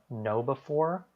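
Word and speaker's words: KnowBe4: good resources out there one is called um know before um and it's spelled like k-n-o-w b-e and then the number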